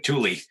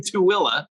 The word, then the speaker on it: Tooele: I didn't know you lived in Thule or in the Thule. I was born in Tooele. Oh, good. If you look at it on paper, it's like Thule.